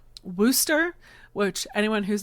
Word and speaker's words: Worcester: basically was bullied when I pronounced the R in Worcester, which anyone who's not familiar is spelled like it should be pronounced Worcester, but no, don't actually